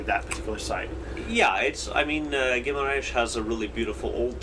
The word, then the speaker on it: Guimarães: And then there was another tour over to the city that starts with a G, whose name I cannot pronounce. Guimarães, which is where the home of the Portuguese nation is, another UNESCO Yes.